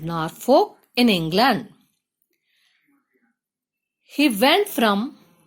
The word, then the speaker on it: Norfolk: There lived a peddler in a place, PLACE, place, in a place called, CALLED, called Norfolk, NORFOLK, Norfolk. Here, L is silent, okay?